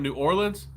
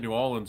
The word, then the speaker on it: New Orleans: Some people say it wrong. They They say like New Orleans and you know you cringe. Makes you have a heart attack. No, it ain't it ain't New Orleans. It's New Orleans. That's how you say it, right?